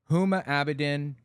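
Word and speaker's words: Huma Abedin: I'll phrase it differently hum abidin is how her name is pronounced is he really this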